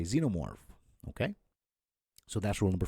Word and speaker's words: xenomorph: And if you're an Aliens franchise fan, you might say xenomorph, okay?